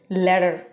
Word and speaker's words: latter: ল্যাটার, এটা flapping করলে উচ্চারণ হবে ল্যাডার।